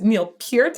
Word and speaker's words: Neil Peart: Thank you, YouTube community, for correcting me, telling me it was Neil Peart and not Neil Peart.